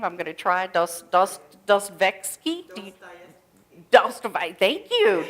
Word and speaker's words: Dostoevsky: Russian novelist Fyodor, I can't even pronounce the last name, I'm going to try, Dostoevsky? Thank you. Dostoevsky made a dramatic claim in his book, The Idiot.